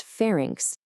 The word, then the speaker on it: pharynx: Well, first off, it's pronounced fairings.